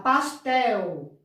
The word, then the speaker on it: pastel: A gente pronuncia, a gente fala pastel. A gente acha que se escreve com U, não é? Quando a gente pronuncia como fosse um U, mas não se escreve com U, se escreve com L.